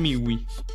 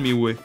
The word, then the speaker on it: miły: Pan miły. This is one of the weird letters I was talking about, like the L with a bar in the middle. This is actually pronounced W as W, so.